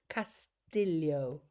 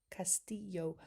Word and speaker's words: Castillo: Castillo, pronounce Castillo. Oh, okay. From the Spanish word for castle, and the double L sounds like a Y, was adopted in pronouncing Filipino names. Castillo.